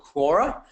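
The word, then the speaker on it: Quora: at and investing in right now is called Kora which is spelled q r a all right it's a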